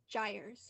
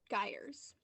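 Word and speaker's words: gyres: Zed hello contestant ready your word is gers or guers guers may please tell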